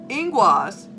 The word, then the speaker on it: Ingwaz: Ingwaz, okay, that's what it's pronounced.